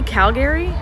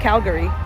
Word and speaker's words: Calgary: are you visiting Calgary so not Calgary Calgary but not it's certainly not Calgary I had a um I had a friend from there and I asked how do you say it they're like well I say it like Calgary so that's essentially why